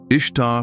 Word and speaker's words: Ishtar: Ishtar pronounced somewhat like Easter was the goddess of love and fertility.